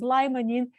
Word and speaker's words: limonene: and oranges there is a substance called lemon in also pronounces limonene that is both well